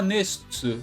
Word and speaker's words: NESTS: Logo em seguida ela fala nestsu, que é a pronúncia japonesa de nests, que é o nome da organização do mal nesse arco de The King of Fighters.